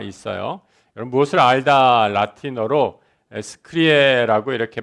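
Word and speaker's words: scire: 여러분, 무엇을 알다 라틴어로 스크리에라고 이렇게 발음을 합니다.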